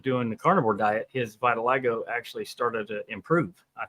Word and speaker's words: vitiligo: You said you got vitiligo.